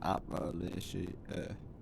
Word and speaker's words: Appalachia: You know it's pronounced Appalachia.